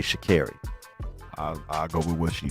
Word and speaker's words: Sha'Carri: Sha'Carri is how you say her name. Sha'Carri, not 'Cause I- Sha'Carri. Because I heard her correct someone in an interview, and I heard her say Sha'Carri.